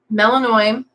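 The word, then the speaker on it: Melinoë: of events that happened, Melanoi, that's how I'm choosing to pronounce it, and it's very specific on how the spelling is supposed to be. Melinoe with the 2 dots over the E.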